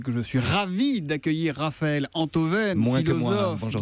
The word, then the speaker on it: Raphaël Enthoven: La première, c'est que je suis ravi d'accueillir Raphaël Antoven, Moins que moi. philosophe. Bonjour Bienvenue Thomas. Raphaël. Merci. Et la deuxième, c'est qu'enfin, on va bien prononcer votre nom. C'est Raphaël Antoven.